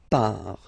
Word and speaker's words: pars: So final S not pronounced, je pars. Tu pars, same form, you can see here and here. So final S not pronounced, tu pars.